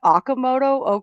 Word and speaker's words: Okamoto: Kazuma, is it Okamoto? How do you pronounce that?